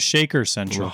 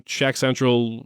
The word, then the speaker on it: ShakCentral: And I thought it was Shaker Central. Oh my gosh. Shouldn't have said anything. But yeah, that's really I'm ShakCentral literally everywhere.